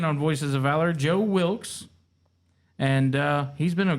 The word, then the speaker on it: Wilkes: I can't pronounce it today. I don't know why. What's your last name? Wilks.